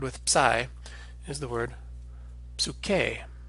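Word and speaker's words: ψυχή: spirit or soul and this can be a little bit hard to pronounce for English speakers to pronounce this P and s sound at the beginning of the word you can practice it a little by inserting a kind of vowel sound and saying absolute k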